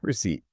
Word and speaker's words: receipt: the proof of purchase, with a silent P. Receipt.